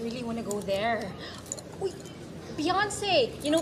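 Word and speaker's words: Beyoncé: there beyonce you know beyonce sorry i'm sorry to burst your bubble butt i can't and won't ring in the us i don't understand you're saying something sir it's accent on the second syllable let's get down to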